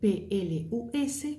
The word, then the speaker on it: plus: S'écribe P-L-U-S, pero con la negación, la S no se va a pronunciar, bien, porque estás negando.